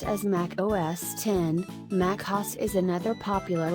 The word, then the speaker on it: Mac OS X: pre-loaded in most pcs to mac OS x pronounced as mac OS 10 mac house is another popular operating system in